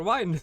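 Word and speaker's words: Wynne: It's Win. Or Wine, depending on however I choose to pronounce her name today.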